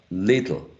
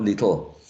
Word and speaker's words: little: um two syllable words we have to um make the first syllable um more prominent than than the second one right little not little so the um the